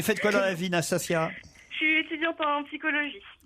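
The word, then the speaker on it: Nastassja: Bonjour Nastasia. Bonjour. Je prononce bien votre prénom?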